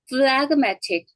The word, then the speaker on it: phlegmatic: MD는 G니까 발음 안 하는데 이때는 발음해요. phlegmatic. phlegmatic. 이때는 그 발음하죠?